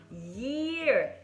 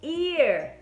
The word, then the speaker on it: year: Eu escuto demais os brasileiros falando a palavra year como ear. E não é a mesma coisa. Vejam bem se vocês escutam a diferença. Ear, ear, year, year, ear, ear, year. Tem muita vibração.